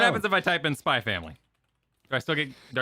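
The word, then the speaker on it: Spy×Family: The X is silent.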